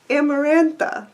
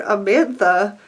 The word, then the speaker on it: Amarantha: Back to A Court of Thorns and Roses, Amarantha. It's not even the hardest name, but for some reason my lazy brain just calls her Amantha in my head, and now it's stuck that way.